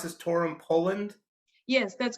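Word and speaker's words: Toruń: born in can you can you help me pronounce this torum poland yes that's correct torah in poland correct yeah so tell us about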